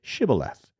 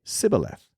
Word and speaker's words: Shibboleth: If the man said, "No, I am not," they would tell him to say Shibboleth. If he was from Ephraim, he would say Sibboleth, because people from Ephraim cannot pronounce the word correctly.